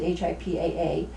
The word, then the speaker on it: HIPAA: patient's interview abuse does HIPAA that's how you pronounce it HIPAA does it provide protection for the security of